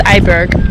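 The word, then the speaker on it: IJburg: It's Eiberg.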